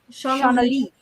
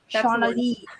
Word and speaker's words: Shauna Lee: But that's so common because my name is spelt like Lay. Like if it was a sleigh, it would be spelt that way. But for some reason it's Lee.